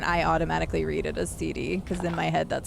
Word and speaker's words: Cide: why it is pronounced cd it's the first two letters of my first and last name it is literally my initials so yeah so i'm